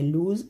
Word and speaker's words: lose: Pronunciation बिल्कुल same है। लूज़ LOSE, इसका मतलब होता है खो जाना, हार जाना।